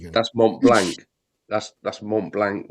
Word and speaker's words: Mont Blanc: That's Mont Blanc.